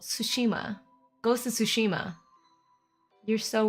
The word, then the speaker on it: Tsushima: of the stream is sushush sushima is it only sushima it is why do I say it with an extra syllable tsushima ghost is sushima you're